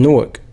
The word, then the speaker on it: Newark: Yeah, if you're not from Jersey, you think it's Newark, baby. It's Newark.